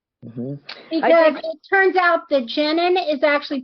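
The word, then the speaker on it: Jennan: include um pronunciation because it turns out the jenin is actually pronounced janon yeah yeah that sounds more uh male I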